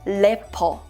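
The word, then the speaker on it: 래퍼: But in Korean, the pronunciation is lepo. Lepo.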